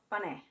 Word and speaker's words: funny: Funny. First syllable fun. Second syllable neh. Or E if you remember that Y is a stand-in.